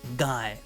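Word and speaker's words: 街: it's connected to another word it actually is pronounced guy so guy means a street a district or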